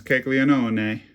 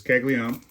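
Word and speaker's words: Caglianone: So people think his name is Kegleon because that's how it's spelled, but it's Kegleion.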